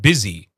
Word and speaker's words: busy: can put an O, a U in some words, like the word busy. So busy. Can you say busy? Busy. See? Now, it creates the same sound even though it's a different letter.